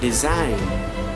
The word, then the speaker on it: design: See, the G letter is not pronounced when it comes before N in a word.